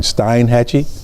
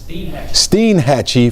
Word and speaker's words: Steinhatchee: Steinhatchee? Steinhatchee, Florida.